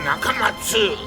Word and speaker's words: Nakamatsu: You may notice his name is spelled Nakamatsu. He dropped the letter U because he says an 8-letter name is easier to remember, but he still wants you to pronounce it Dr. Nakamatsu.